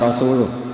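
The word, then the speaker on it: رسوله: Allah itu terbebas, nggak urusan dengan orang musyrik, wa rasulih juga nggak ngurus Rasulnya. Kalau sama Rasul saja tidak ngurus, apalagi sama kita. Bersama Sayyidina Ali dibenarkan, yang benar bacanya itu wa rasuluh.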